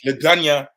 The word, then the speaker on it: LaDonia: You go by the name of LaDonia, please, LaDonia, because the middle L is silent.